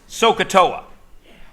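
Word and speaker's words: SOHCAHTOA: word it doesn't mean anything my favorite it's pronounced soaa when I was in grade 10 I thought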